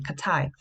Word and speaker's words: Katai: And sometimes it is spelled as Cathay. It is pronounced the same. It has the same pronunciation, Katai.